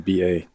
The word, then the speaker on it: Bassham: I mispronouncing his name. Bassham. Lanny Basham.